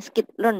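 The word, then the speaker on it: scikit-learn: Tapi bacanya skitlearn, nah, skitlearn, sklearn.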